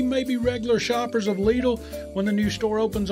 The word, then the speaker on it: Lidl: store in east cobb lidl rhymes with needle a german-based discount grocer